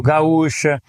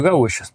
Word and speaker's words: Gaúcha: Мне нравится использовать Radio Gaúcha в качестве примера, именно из-за ударения в gaúcha, у радио тоже есть ударение, поэтому немного затрудняет для самого радио понимание.